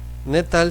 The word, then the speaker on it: gnetal: viendo se llama netal netal se escribe con una G Al principio pero no se pronuncia Así que este tipo